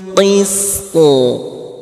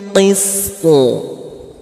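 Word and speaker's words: القسط: Wal malaikatu wa ulul ilmi qa'iman bil qist. Dipantulkan huruf poknya. Kenapa dipantulkan Ustadz? Ada yang bisa jawab? Kenapa huruf to-nya dipantulkan? Kenapa dibacanya qa'iman bil qist? Qalqalah, pintar, alhamdulillah.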